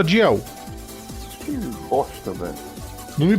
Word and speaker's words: Dalziel: E saber que não é Dalziel que se fala, né? É o nome mais confuso da história. Se escreve Dalziel e se fala Diel.